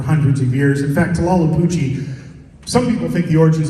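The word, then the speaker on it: Tlahuelpuchi: We'll start with our first one, and this is, I'll give anybody a penny if you can pronounce it. Anybody? Tlalhupuchi. Tlalhupuchi.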